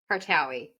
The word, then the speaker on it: Kartaoui: Kartaoui.